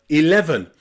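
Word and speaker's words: eleven: E in the word 11. You've got I at the beginning, then E in the middle, and then the schwa at the end.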